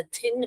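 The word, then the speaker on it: thin: ये वाला भी अनवॉइस्ड है क्योंकि यू है क्योंकि हमको यहां पर थिन बोलते हैं। हम दिन नहीं बोलते हैं।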